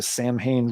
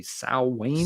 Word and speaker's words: Samhain: if I remember right, the pronunciation is supposed to be Samhain. Samhain, isn't it? Yeah. Yeah, but I never remember. That's a traditional old school way to say it.